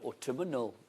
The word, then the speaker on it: autumnal: You say autumnal. Because you put an extra syllable on it, don't you? Well. Is that autumnal? No, autumnal.